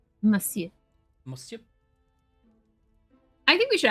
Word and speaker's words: Monsieur: I always want to pronounce the N in that word, but you don't. Monsieur.